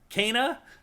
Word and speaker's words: Kena: In the little like clip they ran after this with the developers, they said Kena.